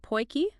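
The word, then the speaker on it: potjie: clue what aachi is oh aachi it's pronounced poy it's basically like a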